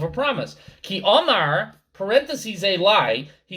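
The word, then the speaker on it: אלי: Ki Omar, parentheses Eli, he said to me, but again the Eli is not written, it is pronounced.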